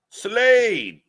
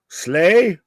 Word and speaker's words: Slade: Slade. Slay? Slade. Slay Queen? Slay? Slade. Yeah, I said it wrong and you went away. Like Blade.